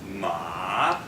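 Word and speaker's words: 骂: And then we have ma. First down, ma. Okay, good. And the final one, ma. Ma. Yeah, like you're slashing a sword or something.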